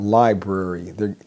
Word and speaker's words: library: So sometimes people are talking about library. They need to go to the library, to check out a book, do some research. But a lot of times people say library. They drop that first R.